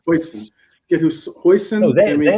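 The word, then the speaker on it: Huijsen: Is Hassan or Hussein? Hoyson. Make sure I say it right. Hoyson.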